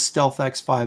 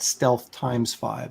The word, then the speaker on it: Stealth X5: It is Stealth X5, not Stealth times 5, like Shane Davis says.